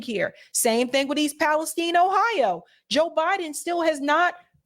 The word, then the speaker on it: Palestine: The correct way to say it is, Palestine.